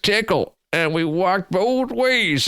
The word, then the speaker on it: Tcl: get to school back you're supposed to say it like this back in my day back in my day back in my day we used we all used tickle and we walked both